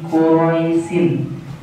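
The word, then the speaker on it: قُرَيْش: Lafalnya di sini quraisin. Tulisannya quraisin. Dikarenakan kita membacanya wakaf atau berhenti, maka cara membacanya menjadi qurais.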